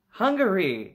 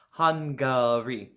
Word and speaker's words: Hungary: is in Central Europe it starts with an H sounds like the word we use for when our body needs food Hungary yeah okay alright not hungry not hungry han gauri and in Hungary they